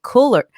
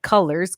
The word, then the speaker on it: Cullors: factor studio and i'm here live with cooler colors coolest last name side note because i've been pronouncing it wrong but colors cool last name how are you today